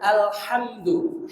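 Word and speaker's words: الحمد: dan a ketika diucapkan yang pertama alhamdu Hnya Jangan dirubah menjadi ha alhamdu maka itu merubah huruf alhamdu segala puji alhamdu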